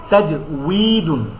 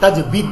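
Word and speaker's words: تجويد: হ্যাঁ, তাজিম জবর তাজ, ওয়াও ইয়াজের উই, তাজ উই, দাল দুই পেশ দুন, তাজউইদুন, এটা হচ্ছে মূল উচ্চারণ। তাজবিদ না, ওয়াও কখনো বা হয় না।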